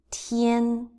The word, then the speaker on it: 天: So let's do the pronunciation of the characters again. First one, tian, tian, tian.